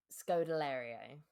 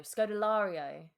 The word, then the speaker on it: Scodelario: practiced earlier and I think it's Ka Scodilario. Perfect. I met her in person once. She was very lovely. So, apologies that I have butchered her name. She's really nice. Um Scod Scodilario. Scodelario.